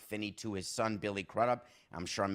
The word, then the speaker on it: Crudup: relationship is Albert Finney to his son Billy crudup I'm sure I'm mispronouncing that yeah it's Billy crudup this is